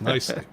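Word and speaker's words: Knicely: name it's K silent k is silent so it's nicely yeah what I say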